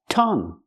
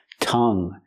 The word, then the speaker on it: tongue: Tongue. Tongue. Use the short uh sound like cup and up. Closed. T- tongue. And the u is silent. Make the sound. Tongue. It's nasal.